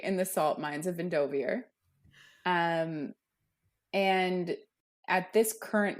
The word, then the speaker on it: Endovier: into the audio books though but it is endovier it's endovier I know it's endovier but it's spelled I eer at the end I automatically